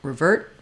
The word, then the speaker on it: revert: ends the word so you might not hear people say revert you might hear revert revert where that ER is going to stop short um and the the T sound won't be let out it depends on what's